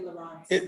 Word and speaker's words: Laurent: I like how you say Laurent. That's how you say it, Laurent's, right? Yeah, yeah.